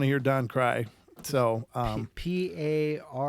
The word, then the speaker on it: Paranauts: So P-A-R-A-N-A-U-T-S, paranauts, like astronaut.